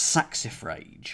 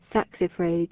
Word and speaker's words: saxifrage: about to find out according to the Oxford English Dictionary it said saxifrage sax if rage uh